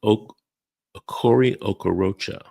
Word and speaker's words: Okori Okorocha: And his name is Okori Okorocha. We call him Double O. It's spelled just like it sounds, Okori Okorocha. Google that name.